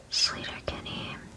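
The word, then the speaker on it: Sleater-Kinney: a few days ago sler Kenny is how you say that sler sler I know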